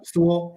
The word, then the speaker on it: Sewell: Did I say his name wrong? No, you're right. Sewell.